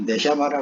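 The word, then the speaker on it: נשמה: 발음이 네샤마라 그랬습니다.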